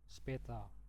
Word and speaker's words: später: Oke, jadi dalam prononsiasi bahasa Jerman er itu biasanya dia diganti jadi a. A. Speta. Bis speta. Nah, tapi kalau karena kalian masih pemula jadi itu enggak apa-apa bilang er aja.